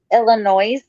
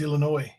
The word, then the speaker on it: Illinois: my head Jimbo foreign it's not pronounced Illinois I thought they had a lot of noise there no it's Illinois Illinois I know and a lot of people try to pronounce it with the S like noise and it's like are